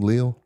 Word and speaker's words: Leal: I got Marty Leal's T-shirt. Is that how you say his name? Leal. Leal. Yeah.